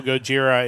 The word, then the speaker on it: Gojira: Obviously, if you don't know, Gojira is the the Japanese pronunciation for Godzilla.